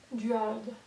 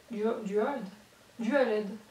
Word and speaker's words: Dualed: Comment on prononce ce truc Duald. Duald. Non. Dualed. Comme les ampoules LED.